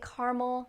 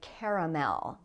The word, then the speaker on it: caramel: Next, we have the word caramel. This is a sweet thing. And some people say caramel and other people say caramel. Notice that the word is spelled as if it had 3 syllables, caramel, but some people like me, we drop the second syllable and we say just caramel. You can say it either way.